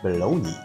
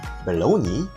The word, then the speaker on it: bologna: And when you eat rice with the jellied meat, some people also eat rice with the pork bologna. This word has various pronunciations, including bologna, Bologna, and Bologna.